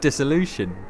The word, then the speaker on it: Dissolution: a narrative first and foremost how does one pronounce the title yeah well I call it dissolution but that's the thing I remember talking to